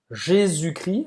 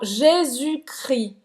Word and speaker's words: Jésus-Christ: Então, Jésus-Christ. Jésus-Christ. Não vai pronunciar o S no final de Jesus, Nem CT. nem o S e o T, certo?